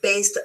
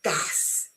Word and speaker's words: bass: guitar, for example, and das, rhyming with mass, for the fish. I think el branzino. The musical term is a long A sound, where the fish is a short A sound.